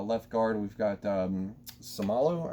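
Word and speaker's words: Seumalo: guard we've got um somalo i think it's somala that's how you pronounce his name jason kelsey at center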